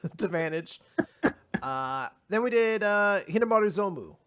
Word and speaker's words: Hinomaru Zumou: Then we did Hinomaru Zumou, or Hinomaru Sumo, I guess is a better way to pronounce it.